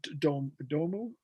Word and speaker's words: Domu: And then the next one was Domu, is that how you say it? Yeah.